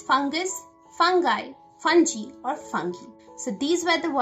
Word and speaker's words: fungi: So the plural of fungus is fungi. Fungi. Now this is a little controversial because there are some people who would also pronounce it as fungi. Fungi or fungi. So it's fungi, fungi. Or you can even pronounce it as fungi. So however you pronounce it is perfectly alright.